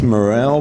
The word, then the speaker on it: Morril: I guess Morril, but but it's spelled with an I.